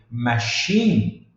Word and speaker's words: machine: eu não não mencionei mas na palavra aqui machine machine pode ver que termina tem um e